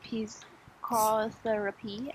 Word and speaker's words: psychotherapy: Zelda seems to have received expert psychotherapy at Grey House, but her illness were relentless. Okay. Cái này ha, cái chữ mà BSI á, thì lúc nào cũng đọc là psy, bỏ mất chữ B luôn.